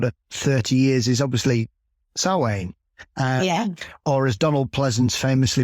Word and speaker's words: Samhain: the last sort of 30 years is obviously salwaine or as donald pleasance famously mispronounced it samhain in and caused caused many uh many a